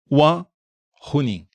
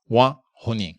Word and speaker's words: Wang Huning: pode satisfazer a sua curiosidade sobre a minha pronúncia em mandarim. péssima, cujo nome é Juan Runin. Wan Runin.